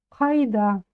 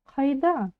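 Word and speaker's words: қайда: И у нас получается кайда кайда Ну конечно если вы скажете кайда вас тоже поймут но лучше всё-таки уж чуть-чуть постараться и попробовать произнести правильно Хайда ударение ставится на слог да А всё Почему А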